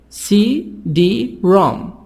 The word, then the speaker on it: CD-ROM: CD-ROM. So here the stress on the third part. 3 parts. CD-ROM. CD-ROM. The stress on the last part.